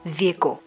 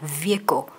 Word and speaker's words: vehicle: chúng ta có từ vehicle. Từ này có hai cách đọc, các bạn có thể đọc là vehicle hoặc là vehicle.